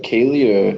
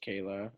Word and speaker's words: Kayla: It's like Kaylee or It's just Kayla.